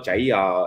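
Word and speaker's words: chả giò: And if you don't know, jaya is the Vietnamese pronunciation of saying egg rolls.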